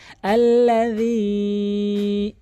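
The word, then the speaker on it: الَّذِي: আল্লাযী ইউওয়াসবিসু, আল্লাযী বলে, মানে এখানে জালকে জিমের উচ্চারণ করে ফেলে, এখানে জালের উচ্চারণ করতে হবে আল্লাযী ইউওয়াসবিসু ফি সুদুরিন নাস মিনাল জিন্নাতি ওয়ান নাস।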